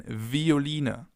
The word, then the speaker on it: Violine: It can either be pronounced like the F, as in Veilchen, Veilchen, or like a V, as in Violine, Violine, violin.